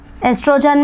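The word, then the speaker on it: Oestrogen: progesterone progesterone and अ एस्ट्रोजन एस्ट्रोजन में ओ is silent progesterone and एस्ट्रोजन और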